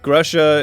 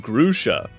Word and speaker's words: Grusha: Grusha is pronounced Grusha. Oh, is it Grusha? Then why is it spelled that way?